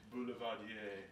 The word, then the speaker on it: Boulevardier: What is in an Orchard Boulevardier? Well, why don't we just kick this thing off and then we can ask. How do you say it again? Boulevardier. Boulevardier. Boulevardier.